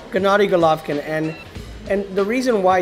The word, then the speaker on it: Gennady: I think it's a G. Hard G. Gennady Golovkin.